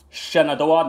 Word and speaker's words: Shenandoah: And you have Spotsylvania County, Front Royal, and Shenandoah, the next three cities that will not get you the jackpot because none of these cities repeated.